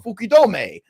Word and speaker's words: Fukudome: cut the stream, like, because he says I say it weird. But it's Kasuke Fukudome. Fukudome. I didn't say that weird. I was actually getting ready to be nervous. You said that right, Fukudome.